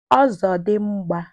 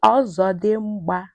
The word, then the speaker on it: ọzọdimgba: Ọzọdimgba. Say ọzọdimgba.